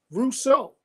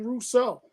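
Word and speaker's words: Rousseau: Man's last name and everywhere I hear it it is being called Gregory R Russo they call him Russo so we got the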